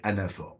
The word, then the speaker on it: anaphore: samedi 18 janvier 2025 mesdames et messieurs est Anah ça s'écrit à N a P h o r